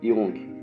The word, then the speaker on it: Jung: Ao falar de psicologia junguiana ou analítica, logo associamos a seu criador, o psiquiatra suíço Carl Gustav Jung. Pronuncia-se Jung.